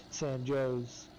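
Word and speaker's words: San Jose: where I grew up it's spelled s a n j o s e but you ask anyone there it's pronounced San Joe's oh yeah yep heck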